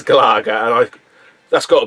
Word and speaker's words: Galaga: pac-man bosconian and galaga it's galaga it is actually galaga it is pronounced galaga not gallagher i hate to admit